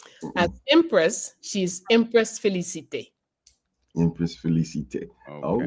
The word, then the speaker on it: Félicité: As Empress, she's Empress Félicité.